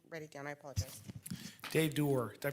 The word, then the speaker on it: Dave Doer: Dave Doer. Did I pronounce that right, Frank? Yeah, Mr. Dave Doer.